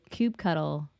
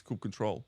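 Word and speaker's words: kubectl: so if you do Cube cuddle or cube CTL or finalizing however you pronounce it yeah so no we're pronouncing this could control like um so if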